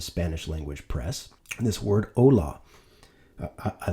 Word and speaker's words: ola: It's pronounced just like hola, O-L-A versus H-O-L-A.